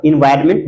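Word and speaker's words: environment: एनवायरमेंट में एन का कहीं कोई उच्चारण नहीं है तो डाउट की बात यह है कि यहां पर एन होगा एनवायरमेंट वातावरण नेक्स्ट मन क्रिस्मस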